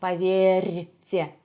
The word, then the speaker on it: поверьте: And the same thing applies to the letter R, which is followed by the soft sign. R. I know it's really hard. I know. I actually have a video on how to pronounce the Russian R. You should also check that out. So R, поверьте, R. It's like a little vibration.